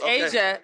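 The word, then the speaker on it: A'ja: it's it's awesome okay you said her name wrong now it's Asia Asia Wilson how you doing girl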